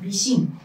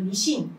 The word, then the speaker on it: 미싱: 중에 하나가 바로 재봉틀이 미싱 미신이라고 불렀는데 이거는 일본 사람들이 기계를 뜻하는 머신을 머신 머신 하다 걔네들은 발음이 안 좋으니까 머신을 미신이라고 하거든요 그래서 기계 대명사인 거죠